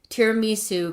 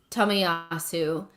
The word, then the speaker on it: Tomiyasu: I hear a lot of tiramisu coming out in the next couple of months or so when they're trying to say his name. It's Tomiyasu. not tiramisu Tomiyasu.